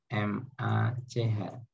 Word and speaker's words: Mach: Simbolnya M, tulisannya adalah MACH. Kita bacanya Mach number.